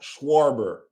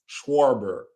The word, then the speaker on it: Schwarber: I never can pronounce his name. Let me try this. Oh, shut up. Let me try this. Kyle Schwarber. There you go. Schwarber.